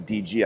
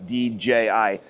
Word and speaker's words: DJI: the DJ uh DJI I I used to pronounce that incorrectly DG I know it's DJI uh it's has a